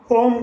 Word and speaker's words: ओम: अभी 3 बार ओम का उच्चारण करेंगे। ओम एक ध्वनि है जो 3 सिलेबल से बनी है, आ, उ एंड मा।